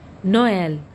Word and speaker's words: Noël: The vowel over which it is placed should be pronounced separately from the one before it. Examples: Noël, maïs.